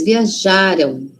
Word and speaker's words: viajaram: A o tio, futuro. Meus pais viajaram ontem. Onde está cédala forte? Já viajaram. Lembra que passado é antes, não é? Passado tá antes da gente. O passado, então a sílaba tônica, síba forte, tá antes. Viajaram.